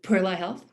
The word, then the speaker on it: Perla Health: Could you please pronounce it again for us? I call it Perla Health. Perla Health.